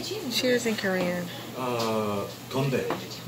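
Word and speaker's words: 건배: Gombae. Gombae. Gombae.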